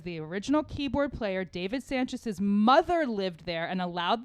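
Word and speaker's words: Sancious: sanchez sanchez yes well it's pronounced it's spelled like s-a-n-c-i-o-u-s where i think it's still sanchez sanchez okay yeah original keyboardist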